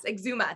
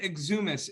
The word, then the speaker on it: Exuma: gonna it's frustrating me please exuma exuma yes exuma that's what it is yes it's so pretty i've always called it exumis is that how it's spelled though i i